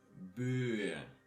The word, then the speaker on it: Böe: And the last one is by nature long, because you have a vowel following it, so you have to say Böe, die Böe.